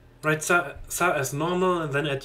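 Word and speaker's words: ざ: You pronounce this as za. Write za as normal and then add your Dakuten marks and the position shown on the image above.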